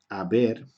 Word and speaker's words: haber: Y haber, ¿ok? Escribimos una H, pero no se pronuncia, sería has, a, hemos, habéis, han.